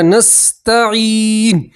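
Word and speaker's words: نستعين: کے اوپر پیش ہے، پیش کو ہٹا دیں گے اور ان کے اوپر کیا پڑھیں گے؟ جزم۔ تلفظ کیا بنے گا؟ نستعین، نستعین، اس طرح پڑھیں گے۔ مکمل آیت دیکھیے، ایاک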